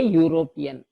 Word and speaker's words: European: the sound but not mobile sound hence a European if it is mobile sound also then and